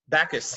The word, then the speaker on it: Bacchus: So Bacchus, I'm not sure how to say it, Bacchus from BC. Bacchus, yes, like the god, yes.